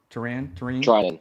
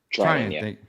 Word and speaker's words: Treinen: Treinen? Yeah. Treinen.